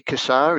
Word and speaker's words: Cassar: son says kasar so mostly kassar is what the way it's announced but us australians sort of put a slang on it and i'll answer them anything cassar's probably the way i always pronounce it yeah we met your